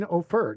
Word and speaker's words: Offor: one and only Blessing Offor. Did I say that What's up, right? friends? Well, you can say oh Offer? for it's offer, but Offer, offer, we accept all kind of similar name pronunciations.